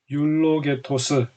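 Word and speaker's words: εὐλογητός: 받는 대상에 대하여 살펴보겠습니다 찬송 이라는 단어는 율 록에 토스 라고 발음합니다 이 단어는 찬송 하다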